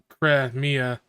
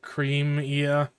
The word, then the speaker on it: Cremia: top of my head it's pronounced cremia but I always pronounced it creema I think that's one that goes either way because they're like it's